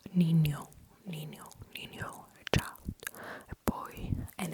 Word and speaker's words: niño: But um try to put lay your tongue a little bit more flat flatter than it just for an for an na. Basically, the tip of your tongue is working. But, with you also uh touch the upper part of your mouth with the ridges of your tongue. With the sides.